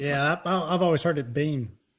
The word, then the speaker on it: Biehn: Michael Biehn is how I always have heard it pronounced. Yeah, I've always heard it Bean.